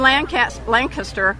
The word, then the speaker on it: Lancaster: Now, here in Lancaster, I got to pronounce it right, Lancaster, it's like there's one